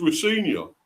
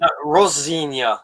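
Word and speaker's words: Rosenior: I always thought it's Rosinia, but it's not, is it? Rosinia. It's almost like it's Italian. You gotta say it like a Rosinia.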